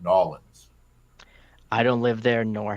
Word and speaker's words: New Orleans: flag for me was his pronunciation New Orleans when any Surfers any self-respecting person who's visited there or lived there knows that uh the locals call it Nolans I don't live there